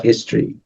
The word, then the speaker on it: history: now it's interesting because history is you know H is pronounced because like in in